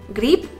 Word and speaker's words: гриб: Например, гриб и грипп. Несмотря на разное написание, конечный звук в обоих словах «п».